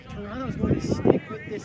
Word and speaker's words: Toronto: It's not Toronto, it's Toronto. That second T is silent.